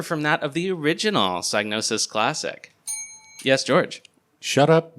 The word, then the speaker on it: Psygnosis: In the original Psygnosis Classic, the P is silent, but in the PC game, the P is pronounced.